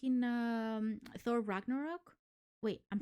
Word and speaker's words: Ragnarok: like in um Thor Ragnarok wait I'm saying it wrong Ragnar is it Rack or Rock Ragnarok it's Thor Ragnarok yes what he said um